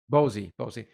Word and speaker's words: Bosie: But before we get to that, I want to get your bossy book. Is it, how do you pronounce it? Is it Bossy? Bosie.